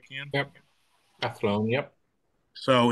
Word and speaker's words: Athlone: If I'm pronouncing that right, Ken? Yep. Athlone, yep.